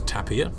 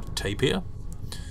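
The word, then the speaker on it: tapir: pronounced taper I think saying it was Tapia or tapier when actually all are acceptable I think it's like either taper Tapia Tapia or I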